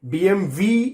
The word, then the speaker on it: BMW: of a German car whereas BMW is actually BMV in German too much information isn't